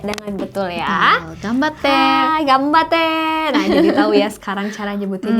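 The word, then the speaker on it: 頑張って: tadi senpai juga ya karena ini berhubungan sama cara baca huruf N juga kalau ini yang betul itu adalah gambate Oke gue Cidro Oh ya udah ribet gambate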